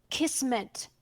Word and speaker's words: kismet: i that's a small correction it's with key kismet kismet is Turkish and it does mean fate